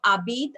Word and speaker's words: habitent: Tes grands-parents habitent à la campagne. So your grandparents live in the countryside. Tes grands-parents habitent. Okay. So ENT, again, we all know we are not going to pronounce ENT.